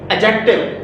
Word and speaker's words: adjective: तीसरे हमारे पास part of speech है एडजेक्टिव। यहां पर डी खामोश है, साइलेंट है।